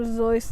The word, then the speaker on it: Seuss: um some fiction but of course some dr seuss it's actually pronounced dr zoice if you yeah that's true i mean look